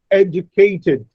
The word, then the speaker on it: educated: There are 4 syllables, but out of these 4 syllables, the first syllable is stressed, absolutely, or categorize, ca is stressed, educated, a is stressed.